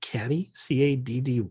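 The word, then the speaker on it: catty-corner: What You does know, it I even actually, it, we say kitty. I think it's actually caddy, Oh, Caddy. is it Because caddy corner? I've heard it pronounced that way, and I've seen it spelled that way.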